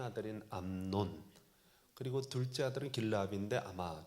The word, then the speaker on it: 암논: 암놈이라고 해야 되나? 논이에요. 암논.